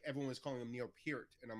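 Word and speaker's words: Neil Peart: Neil P Pier died everyone I called him Neil per my whole life the drummer from Rush and he died and it's like everyone was calling him Neil pier and I'm like oh I've been mispronouncing his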